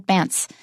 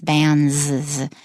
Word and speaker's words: bans: The S is a Z sound. It's not bants. It's bans.